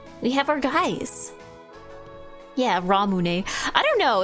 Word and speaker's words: Ramune: I guess maybe it depends if you're pronouncing it wrong like ramoon or if you're just like pronouncing it in a very English way, right?